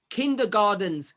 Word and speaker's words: Kindergarten: prophecy kindergarten like me most people are going to say take that into garden but it's a german word it's garten i don't pronounce it